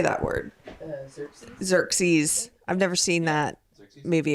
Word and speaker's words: Xerxes: Xerxes.